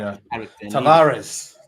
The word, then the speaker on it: Tavares: Already Ramsdale, and I like Tavares. Tavares is good. Listen, I've just heard his name is pronounced Tavarez.